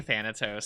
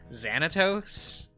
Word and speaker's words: Xanatos: Oh, I keep saying Thanatos, sorry. I mean, I keep meaning to say Xanatos. It's with an X. He's a Kingdom Hearts character, you know. It's spelled with an X, so it's Xanatos.